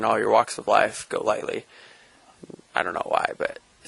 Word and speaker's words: Golightly: Because I think initially I pronounced it with the emphasis on the go, but it's Golightly, right? Yeah. My dad's side is all named Golightly, obviously, but I've had people call me Golightly, a whole bunch of different mispronunciations, but it's just Golightly. Just kind of say it as quick as you can.